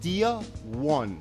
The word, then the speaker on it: Dia 1: Okay, it's pronounced Dia 1. Now Dia stands for in Spanish, day.